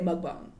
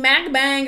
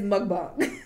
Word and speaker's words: mukbang: They say mukbang. Some people mukbang, macbang, or whatever y'all be calling it. It's mukbang. That's how they say it.